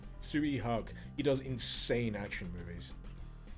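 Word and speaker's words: Tsui Hark: a massive collection of suihak is that how you say his name suey t-s-u-i h-a-r-k tsui hak he does insane action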